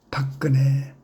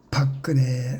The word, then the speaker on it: 박근혜: 해라고 했기 때문입니다.이 대통령의 근자는 무궁화 근자입니다. 길게 발음해야 되지요. 우리 한국을 옛날부터 여기라고 했지 않습니까?이 이 얼마나 아이브러니한 한 일입니까? 그런데 박근혜 아버지 박근혜 아버지는 누구인가요?